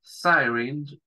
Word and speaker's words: syringe: Syringe. Esa Y se pronuncia como el diptongo I, syringe, ¿sí? La E no se pronuncia al final. Bien.